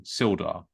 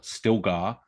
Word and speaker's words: Sildar: notice's deliberate and continual mispronunciation of silda as still or still gar was actually exceptionally offensive